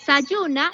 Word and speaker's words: Zajuna: sayun cierto Resaltar que en arhuaco cierto se escribe sahuna que nosotros lo vamos a pronunciar zuna y que significa semilla